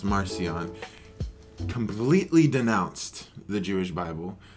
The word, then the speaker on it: Marcion: an 144 ad I think his name is pronounced Marcion completely denounced the Jewish Bible took ten Scrolls